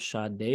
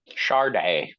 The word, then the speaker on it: Sade: here side three of Shad day week Char day it's pronounced charday by Chardonnay Chardonnay so today we are